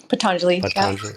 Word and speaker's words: Patanjali: seen you've posted some stuff from is it patanjali is that how you say it patanjali yeah but and i have the little book